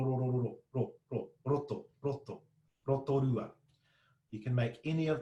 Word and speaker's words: Rotorua: of tea, then there's another way to make this sound, which is your most New Zealand English pronunciation of Rotorua. All right, Rotorua. That Roda, ra, ra, ra, that is a perfect native Māori ra.